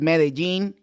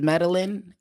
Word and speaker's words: Medellín: there Med medine Med well in Spanish it's meene in English is medalin but it just what